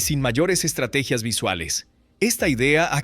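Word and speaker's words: Mayer: En inglés, el apellido mayor suena igual que mayor, lo que hace que la mente rellene automáticamente el nombre con la versión más común o intuitiva.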